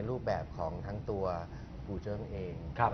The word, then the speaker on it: กู่เจิง: ครับ กูเจิ้ง นะ ครับ ออก เสียง กูเจิ้ง หรือ กูเจิง ครับ กูโร กูเจิง ครับ กูเจิง นะ ครับ มัน เป็น ดนตรี เป็น